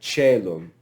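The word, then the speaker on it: caelum: So I becomes e, like celum.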